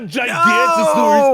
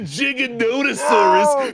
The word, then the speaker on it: Giganotosaurus: um actually T TJ it's not a gigantosaurus it's a giganotosaurus they're they and they